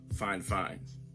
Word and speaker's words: Fifine: it's spelled f-i-f-i-n-e but it is pronounced fine fine like girl you so fine double fine fine fine